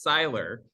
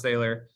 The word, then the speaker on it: Sailer: I will say it's actually pronounced Seiler, but nobody knows that. And I'll, you've got the my inside information now. Seiler. But we should Seiler, yeah. stress it was a little unclear that your last name is spelled Sailer, right? Yes, correct. Okay. So it looks like a misspelling of sailor, and it is looks like it should be pronounced sailor, pronounced Seiler.